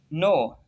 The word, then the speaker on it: knee: पांचवा रूल है, अगर किसी लफ्ज़ में एन से पहले के आता है तो के हमेशा साइलेंट होता है। जैसे नो, कि NOW, नो।